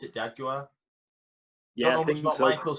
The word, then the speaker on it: D'Aguilar: That's how you pronounce it, D'Aguilar.